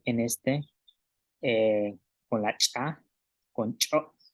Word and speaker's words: ch'o': Y en con la cha, con cho, cho, cho, ratón, cho.